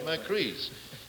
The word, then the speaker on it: Macris: Now tell me, did I mispronounce that? Macris. Did I do it right? Macris.